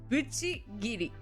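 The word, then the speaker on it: Bucchigiri: able to function talking about this specific thing spell it out please it's bu c c h i g i r i BCI gidy um but here's the thing with with BCI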